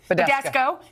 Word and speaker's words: Badescu: This is Badusco. Is that how you say it? Badescu.